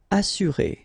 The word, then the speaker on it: assurer: Assurer, all right, you get two vowels here, but then double S, so it should be really strong. S, assurer.